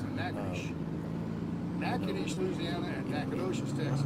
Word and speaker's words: Natchitoches: pronounce it Natchitoches.